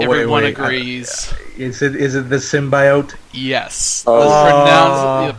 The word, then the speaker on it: symbiote: As, like, she really emphasized that bi part. She's like symbiote.